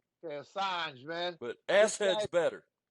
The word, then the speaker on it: Assange: Julian asse head ass head whatever his Julian Assange Assange man but ass head's better guy saying he's